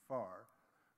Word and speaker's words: FAR: The first assessment report of IPCC is known in the trade as the FAR, pronounced FAR.